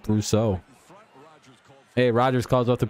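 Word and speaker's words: Brosseau: You don't have to pronounce it all French like. It's just Brousseau.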